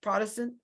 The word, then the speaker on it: Protestant: And Will, do you still call yourself a progressive Protestant? Yes, but I like to put the emphasis on the first syllable to put the protest back into Protestantism.